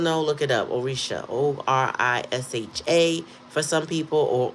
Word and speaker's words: orisha: O R I S H A for some people or O R I S A some people you pronounce the H whether it's there in the word or not.